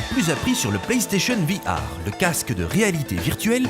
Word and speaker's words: VR: appris sur le prestation bihar le casque de réalité virtuelle playstation oui oui ça se prononce vihar et pavés r ça